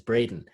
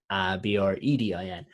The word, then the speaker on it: Bredin: Funny you mentioned that, because my surname, which no one ever knows how to pronounce properly, is Bredin, Bredin, and it's actually I've